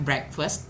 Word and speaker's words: breakfast: Next ada have breakfast. Teman-teman, cara bacanya break, bukan break tapi break. Breakfast.